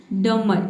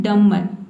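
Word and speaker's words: dumber: है यहां पे देखिए डम नहीं पढ़ना है जब भी किसी भी वर्ड में एम के बाद अगर बी आता है तो वहां पर बी लेटर साइलेंट हो जाता है ठीक है तो यहां पे बी लेटर साइलेंट है इसको हमें पढ़ना है डमर ठीक है डमर का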